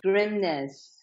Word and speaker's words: Grimness: us who you are grimness it's a Norwegian last name I'm married into it